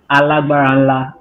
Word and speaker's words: ALGBARNLA: So I'll help you with the pronunciation of the name you're trying to call. It's ALGBARNLA.